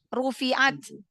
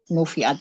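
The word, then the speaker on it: رُفِعَتْ: Ayat ke-18 tadi Rufi'at ru ru ya. Ya. Tadi apa tadi bacanya? Nufiat kali. Iya, nu ya tadi ya. Iya. Heeh. Tadi salah huruf ya. Nu ya yang benar. Rufiat.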